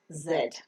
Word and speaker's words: Z: along the cheek yak the last letter of the English alphabet is Zed the normal British pronunciation is said and the American pronunciation is z the pronunciation the phonic